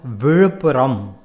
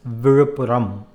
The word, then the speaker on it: Vizhuppuram: One that you can also use and get to hear often is the town Vizhupporo that rhymes with apparo, or even colloquially apparo, then afterwards.